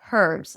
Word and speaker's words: herbs: Do not pronounce it except for herbs that I think British speakers and uh South African speakers may pronounce it with an H like herbs.